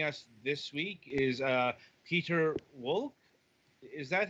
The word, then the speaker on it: Piotr Wolk: this week is uh peter wolck is that how that's pronounced uh okay i was wondering if that was the german or not okay peter volk of star first hi